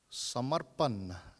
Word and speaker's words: Samarpan: Samarpan, again there is a trilled R in there, Samar. And the N, the ending N, has 2 versions of pronunciation. Those of us in the South would say Samarpan, Samarpan, whereas those in the north say Samarpan. But it's just Samarpan.